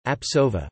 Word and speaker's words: Jean-Pierre Sauvage: Jean-Pierre Sauvage, French pronunciation, Apsova, born 21 October 1944, is a French coordination chemist working at Strasbourg University.